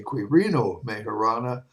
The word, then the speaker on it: Quirino Majorana: In 1920, Quirino Majorana, to say it properly, I should say Quirino Majorana, an Italian experimentalist, named it the graviton.